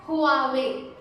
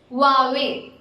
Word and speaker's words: Huawei: You might pronounce it as Huawei, Huawei, Hawaii. I don't know what all names you call this brand as, but the actual way of saying it is Huawei. Yes, here the H is silent and you